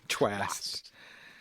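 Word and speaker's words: Chwast: Mark Twain's War Prayer from Seymour Twast. That's a great name. Phantoraphics, May 22nd. Can you spell that for me? Just like it sounds. CH W S. Yeah. Twast.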